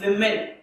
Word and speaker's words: women: Now अगर मैं बोलूं woman, woman का plural women, pronunciation women.